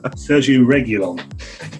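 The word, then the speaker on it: Sergio Reguilón: but i mean sergio regulon and spanish viewers that is how you pronounce it correctly mistake um and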